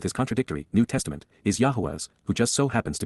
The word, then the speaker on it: Yahweh: narrow path to get the most joyous life Yahweh Yahweh the proper pronunciation of the name of eloah God as